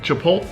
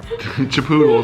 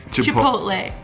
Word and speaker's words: Chipotle: Like Chipotle. I don't know how to say it very well. Chipotle bar. Chipoodle is what I actually call it because I can't say it.